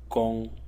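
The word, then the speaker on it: 弓: One is this one, which is pronounced gong, and is a bow, like a bow and arrows, this type of a bow.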